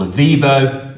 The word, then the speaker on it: Eviivo: So we use a company called Avivo. That's spelled Eviivo.